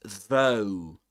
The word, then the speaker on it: though: And the word um this word here this is though. Though the first sound in this word is the same as in the word the the car for example right the th the though.